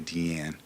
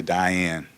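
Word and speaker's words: Diane Arbus: pronounces that little Indian if you're in the know you say TN if you don't know you say Diane all right but DN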